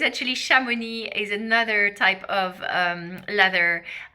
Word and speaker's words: Chamonix: So I'll pronounce this again, Chamonix.